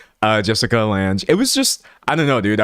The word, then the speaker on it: Lange: Oh, someone said Jessica Lange is pronounced Lang.